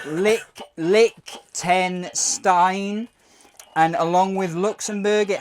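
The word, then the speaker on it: Liechtenstein: need after consuming this McDonald's um it's actually pronounced Lick Lick ten Stein and along with Luxembourg it has one of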